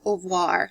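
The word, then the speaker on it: oeuvre: her body of work or her oir you'll probably hear that term it's spelled o e u v re e and that's basically a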